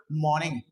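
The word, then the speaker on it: morning: said good good मॉर्निंग अब मॉर्निंग में क्या करेंगे आर को स्लाइट प्रंस करेंगे यानी कि ऑलमोस्ट साइलेंट कर देंगे then we said good मॉर्निंग मैं लिख देता हूं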